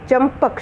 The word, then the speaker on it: चंपक: चंपक जो है पांचवा वर्ण पवर्ग का म है, तो ये म की आवाज़ जो है उसको हम इस तरह लिख सकते हैं, लेकिन उच्चारण म का ही होगा।